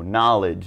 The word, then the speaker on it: knowledge: n for your pronunciation do not pronounce the k just ignore it and give it the n sound no knowledge knight new like that